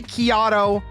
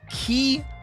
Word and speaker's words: Chiato: My name is Chiato, like a macchiato. So if you're ever saying Chiato or unsure how to pronounce my name, it is Chiato, like a macchiato.